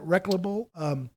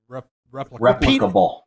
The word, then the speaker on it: replicable: Where it's all the same and it's easily how do you say that? Reclamable? Reclaimable? No. You can repeat it. You can clone it. Replicable. Replicable. I could not pronounce replicable.